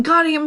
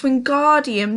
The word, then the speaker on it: Wingardium: snap it's when guardium it's wingardium leviosa make the gar sound nice and long you do it then